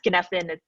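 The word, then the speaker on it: Cynefin: also look into the um it's called it's pronounced genethin but it's spelled like scientific framework so feel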